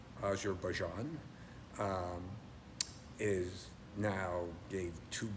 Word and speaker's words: Azerbaijan: I forget who corrected my pronunciation, which you should. It's Azar Bjan.